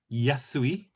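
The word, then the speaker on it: やすい: suffix those suffixes are yasui easy this is actually the this is actually the kanji for yasashi actually but uh in this case it's pronounced as yasui yasui in a different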